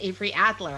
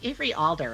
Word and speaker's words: Avery Alder: And I think I said Avery Adler at the beginning of this. It's Avery Alder, everybody. So if I said the name wrong, I'm sorry.